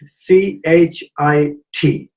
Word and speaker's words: chit: Next is the word chit, C-H-I-T, but the T is pronounced softly, chit.